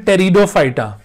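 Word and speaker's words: Pteridophyta: group को गए थे टेरिडोफाइटा पीस साइलेंट हो गए यहां पर टेरिडोफाइटा टेरिडोफाइटा यह प्लांट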